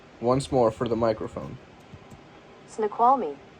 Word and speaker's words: Snoqualmie: officials closed off trail access points along the Snoqualmie? Snoqualmie. We're gonna pronounce that really quick. Pronounce that fucking word. Alright. What do you got, Google? Snoqualmie. Yeah, once more for the microphone. Snoqualmie. Snoqualmie.